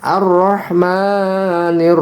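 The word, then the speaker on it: الرحمن: Kemudian selanjutnya ar-rahmanir rahim. Ar-rahmani alif lam ketemu ro bertasjid, alif lam samsiah.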